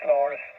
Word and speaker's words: Lars: But anyway, the name here, the handle here is Lars, like Lima Alpha Radio Sierra.